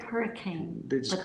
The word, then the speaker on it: Hurricane: It's spelled like hurricane, They just but call they it say Hurricane.